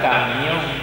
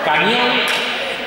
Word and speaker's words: camión: La dos, o sea, Marta te ha convencido de que la palabra camión tiene tres sílabas. ¿Te ha convencido? ¿Y te la has creído? Camión, dos sílabas.